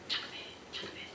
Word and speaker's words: Jochebed: And I started thinking about Jochebed, who is, and I looked that up so I pronounced it right, just so you know, I kept playing on. Jochebed.